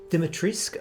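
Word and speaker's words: Dimitrescu: don't know why yet but we've got uh dimitrisk apparently as capcom has revealed the pronunciation of vampire lady's name heisenberg is a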